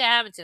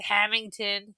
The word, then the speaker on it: Hammonton: I was not happy with Hammonton. A- Hammonton. As Hammonton. soon as she did not pronounce it HAMINT''N, Hamilton, you should have hung up the phone.